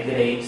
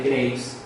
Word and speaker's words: Graves: se llama enfermedad de Graves, muchas personas colocan enfermedades graves, ¿no? Pero no es graves, sino Graves, es el apellido de...